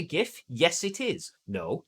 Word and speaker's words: GIF: Is it a GIF? Yes, it is. No, it's a GIF. No one calls it a GIF.